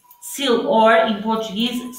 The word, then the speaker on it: sylphs: How do you spell it? The sylphs? S Y L P H S. Sil, or in Portuguese, silfos.